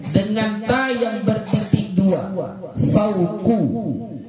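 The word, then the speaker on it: فوقُ: Fauqu, bukan fauqa, ya.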